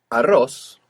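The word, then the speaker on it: arroz: It's actually al r the rice. But again in Spanish the L assimilated to the next R as it does in Arabic. And instead of al r like in Arabic ar we ended up with aros.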